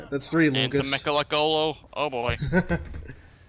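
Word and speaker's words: Mgalekgolo: And some Mechalocolo. Oh boy. Seemed like when in Halo Wars they pronounced it, or not Halo Wars, Halo Nightfall, they pronounced it almost like Megalocolo.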